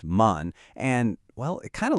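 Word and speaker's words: 万: It's pronounced man.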